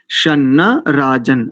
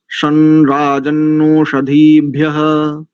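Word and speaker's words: शं राजन्नोषधीभ्यः: शन्न राजन, ऐसा नहीं, केवल यहाँ पर क्या करेंगे, इस शकार के बाद ये है ग्वांग, और ग्वांग का उच्चारण यहाँ पर करेंगे णकार की भांति, तो हो जाएगा शनराजन्नोष, शनराजन्नोषधीभ्यः।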